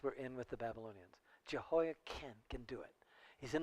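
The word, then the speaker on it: Jehoiachin: It's a CH, and we often want to pronounce it with chin, but it should be pronounced ken, Jehoiakim, which is interesting because Jehoiakim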